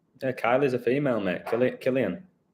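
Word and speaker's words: Kylian: Killian. Got the word kill in his name when the way you pronounce it.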